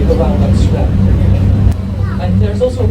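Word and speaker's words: IJ: And there's also a cafeteria in there, behind the windows there, where you have a nice view over with A. And because we pronounce it A, and we spell it I-J.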